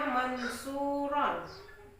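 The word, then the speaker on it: منصورا: Atau tulisannya mansuron, maka kalau kita membaca Al-Quran berhenti maka dibaca mansuro, itu namanya mad iwad ya.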